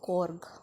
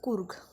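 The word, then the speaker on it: Coorg: This will pronounced as Kurg, not as Korg.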